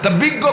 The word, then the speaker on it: বিজ্ঞ: লাগা দিলে বিজ্ঞ হয় বিজ্ঞ কতি গ উচ্চারণ হচ্ছে ইয়ে আর জর মধ্যে গ পূর্ণ জগা খেচড়ি ছাড়া